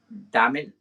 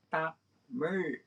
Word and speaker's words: Tamil: It's not Tamil, it's Tamil, that one.